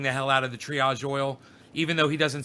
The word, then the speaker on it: triage: He still doesn't know how to say triage. He says triage. And he spells it Triage, but it's triage. I got to teach him the French.